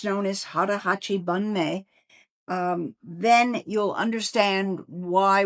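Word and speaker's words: 腹八分目: Um and it's known as Hara Hachi Bun Me. Um then you'll understand why we're discussing it today. So, how was my pronunciation? Okay? Yes, you actually said it perfectly.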